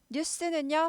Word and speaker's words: 뉴스: 거죠 좋은 소식 희소식 뉴스는요 발음이 뉴스 뉴스 뉴스 이게 즐 발음이 나고요 그런데 신문일 때에는 뉴스페이퍼